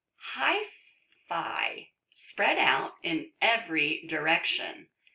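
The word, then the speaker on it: hyphae: out in every direction actually I think this is pronounced hyphy look at that silly word that you would think that is an a let's see if we click on it oh look at that pronounced hi fee when hi see bump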